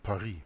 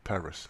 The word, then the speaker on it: Paris: Jesuits by French author Edmund pari or Edmund Paris as he will pronounce it in English the remembrance on the